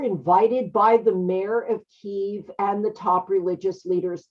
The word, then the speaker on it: Kyiv: It's pronounced Kyiv or Kiev in the United States.